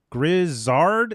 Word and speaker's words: Grizzard: Apparently, I pronounced that name wrong. Teresa's mad at me. It's Grizzard.